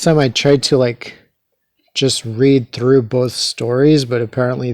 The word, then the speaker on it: Re: So the Egyptian sun god, his name is Re, often mispronounced as Ra, due to Egyptologists spelling it R-A with an accent over the A to mean Re, but it's often misread as Ra.